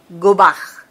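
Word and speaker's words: גבה: Mire aquí la palabra altivez viene de una expresión hebrea, se pronuncia gobaj.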